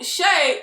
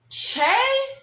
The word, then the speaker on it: Che: these so shay yo is the name che cause that's how miranda pronounces it but i thought it